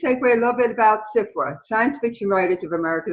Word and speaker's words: SFWA: Oh, well, but it's important because it's SFWA, and we often make the joke that the other F is silent. I always wanted to be a member of SFWA, and it was a